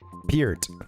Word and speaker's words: Peart: his name, and yeah, I heard his almost something more like P-E-R-T. Thanks for the correction. I got a bone to pick with my band director. Peart. Yeah, Peart.